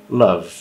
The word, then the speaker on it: love: sobre isso no canal palavras terminadas em e como essas três últimas a gente não pronuncia o e certo então Love Então esse é o